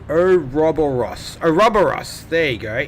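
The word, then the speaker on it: Ouroboros: Orus is pronounced oberus.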